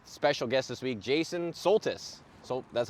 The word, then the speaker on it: Soltys: But welcome to episode 15 of Trash Talk with special guest this week, Jason Soltys.